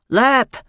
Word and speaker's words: Leap: It was no more than a minute later that the bus driver called out, "Leap." Which he pronounced Leap as in leper.